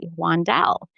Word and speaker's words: Wandell: my last name and she pronounced it correctly, Wandelle. And I said, "Most people kind of put the emphasis on a different syllable."